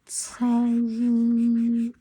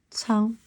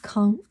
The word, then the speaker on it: 仓: Cang, Cang, not Kang. Okay, C. This pronounced C.